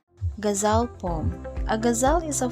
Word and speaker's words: ghazal: The ghazal pronounced like ghazal, like A is pronounced of U, has a long and